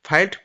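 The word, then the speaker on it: filed: তো এফ I double L ইডি এটার উচ্চারণ কি? ফিলড। আর এটার বাংলা অর্থ কি? ভর্তি। ঠিক আছে? আর অপশন ডি ফাইলড।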